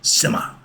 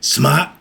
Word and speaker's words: Sema: Union, Sema. Okay, Sma, S-M-A-I or S-E-M-A, whichever way you want to pronounce it.